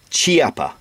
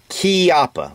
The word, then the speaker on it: Chiappa: pronounce this is not chiapa or chiapa it's kiapa like k-e-y-a-p-p-a and it's an italian word and so i hear